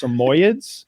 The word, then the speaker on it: Samoyed: And I think he's like I looked at like I think it's pronounced Samoyeds.